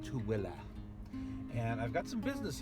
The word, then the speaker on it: Tooele: So only if you're local can you pronounce it properly. Most people call it like Tooele and so many other things, but it's kind of funny. It's pronounced Tooele.